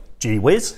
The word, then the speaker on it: Gewiss: this gee whiz giveth gee whiz well actually the good news is they're not overly fussy about the way it's pronounced but apparently give this is the official pronunciation who knows I certainly